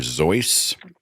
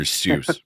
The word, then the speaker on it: Seuss: Zeiss it's a Bavarian name and of course the minute I read that I thought my whole life is a lie you know and it has to be dr. Seuss it can be doc